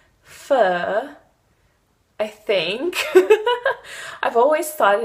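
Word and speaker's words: phở: But if you pronounce fur in the British way, it's like pho. So we believe that the right pronunciation is pho.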